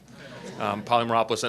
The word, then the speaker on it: Polymeropoulos: a great night because you pronounce my last name correctly poly Merope listen and I always tart